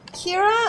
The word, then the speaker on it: Kira: So Kira, actually, I took that from the Japanese pronunciation of killer, which is Kira.